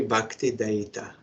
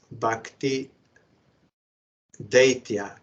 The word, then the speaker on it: Dayita: in remembrance of this you should be bakti da I hear some isan devotees they sometimes pronounce bakti daa but that is not correct daa means demon from